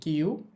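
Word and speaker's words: キュ: তো যাই হোক, কি এর সাথে ইয়া উচ্চারণ হবে কিয়া। এরপর দেখেন, কি এর সাথে আমরা দিব ইউ, এটা হয়েছে কিউ।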